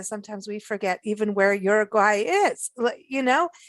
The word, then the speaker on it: Uruguay: was born and raised in iraq so it's uruguay not uruguay i was halfway there yes that's why we pronounce it uruguay but you know i've heard it pronounced in